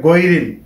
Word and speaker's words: গৈরিল: এবং এখানে গায়রিল বলে অনেকে, গায়রিল হবে না, হবে গৈরিল। গৈরিল মাগদুবি আলাইহিম ওয়ালাদ-দাল্লিন। তাহলে আমরা কি বলবো, কিভাবে বলবো? গৈরিল, গায়রিল বলবো না, বলবো গৈরিল।